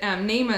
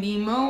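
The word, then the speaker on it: Neema: But Nama is Swahili for grace, and it's spelled N-E-E-M-A. And it was like a time when Finding Nemo was really popular. And I was really afraid that people would call her Nima or Nemo, either one.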